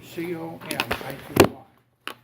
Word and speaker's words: comity: The first one is a principle of comity, C-O-M-I-T-Y. C-O-M-I-T-Y. It's pronounced comity.